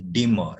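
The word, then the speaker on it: demur: and its pronunciation is dima it's in two syllables it can be used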